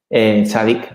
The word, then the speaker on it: tzadi: muy importante porque es la letra del equilibrio, tzadi. ¿Vale? Es una letra que supuestamente está detrás del equilibrio de todas las cosas, precisamente porque tzadi significa justicia, tzadik, mejor dicho.